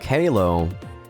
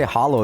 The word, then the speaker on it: halo: an Angelic Halo uh I was going to say Hollow there because that's the you know the it's a it's the pronunciation in my native tongue really so it's easier like I I it it took me a while to actually say Halo yeah I see where